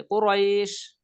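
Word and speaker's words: قريش: কুরাইশ, কুরাইশ রাইশ র, র এখানে র এ যেমন রয়, এখানে রটা উচ্চারণ করার সময় একটু এক আলিফ টেনে দিতে, কুরাইশ কুরাইশ।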